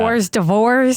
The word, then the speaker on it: hors d'oeuvres: Why is it spelled like that? Hors d'oeuvres as I've heard people say.